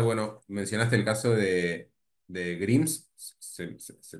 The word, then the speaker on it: Grimes: Te quería preguntar, bueno, mencionaste el caso de Grims, se pronuncia así, ¿no? De este Sí, Grimes, artista.